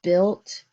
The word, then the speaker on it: built: Now, do you hear the word built? Say I in the middle, built.